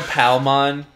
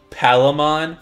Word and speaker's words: Palmon: sometimes just like dude he called palmon palomon for the longest time and i want yeah